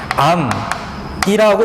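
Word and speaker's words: 앎: 이거 발음하면 어떻게 발음돼? 암이라고 발음되지만 소리 나는 대로 이렇게 적지 않겠다라는 거야.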